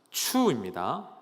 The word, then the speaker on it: 맥추: 그럼 맥주라는 말 발음을 잘 하셔야 돼요. 맥추입니다. 헷갈리시면 안 되고요.